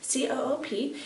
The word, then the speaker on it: Coop: So there's the most popular one probably is Coop, C-O-O-P. In Italy it's pronounced Coop.